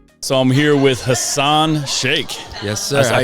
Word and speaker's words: Shaikh: So I'm here with Hassan Shaikh. Yes, sir. I pronounced it Shaikh, right?